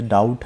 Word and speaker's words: doubt: जैसे डाउट है, बी इसमें हमने नहीं बोला ना, साइलेंट है, DOUBT।